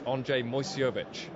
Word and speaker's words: Andrzej Moyseowicz: It's Andrzej Moyseowicz. Yes? Excellent Can you pronunciation.